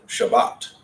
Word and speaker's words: Shabbat: of view that means the emphasis is going to be on the last syllable of the word usually there are rules regarding Linnet and you learn those later in the book so Shabbat our emphasis is on the box not on the shop if we're Ashkenazic as